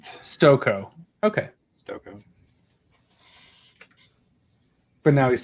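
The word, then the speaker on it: Stokoe: I'm gonna say it wrong, but it's James Stokey? Stoko.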